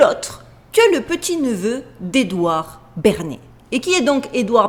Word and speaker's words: Bernays: entendu parler, Monsieur Edouard Bernays. Je vous le note, mais je le prononce à la française.